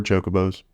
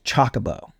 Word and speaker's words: Chocobo: to pronounce that because I thought it was Chocobo like kind of like chocolate Chocobo I think I've always said Chocobo like maybe it's Chicago it could be changed the emphasis around yeah see I'm not